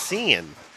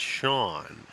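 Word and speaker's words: Sean: good point it's like how does one pronounced sea an it's Cen right isn't it Cen no it's sha just like John but anyway I just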